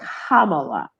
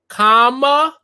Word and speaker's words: Kamala: But if you just forgot, you had temporarily just lost your mind, it's Kamala, like the punctuation mark. Bakari Sellers help us out on Twitter. Kamala.